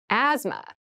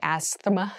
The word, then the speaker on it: asthma: deep cavity deep cavity asthma asthma Asma so this word has very interesting spelling there's a th in the middle but we don't say Asma we say asthma so kind of ignore